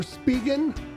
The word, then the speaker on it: Spigen: Pixel 9a thin fit made by Spigen or Spigen, like Americans say.